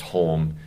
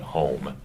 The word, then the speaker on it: Hulme: Yeah, Hulme, and it's properly pronounced Hulme. But the way, if you hear like Eliot say it, he'll call him home. So he swallows the L.